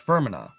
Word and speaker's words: Fermanagh: It's pronounced Fermanagh.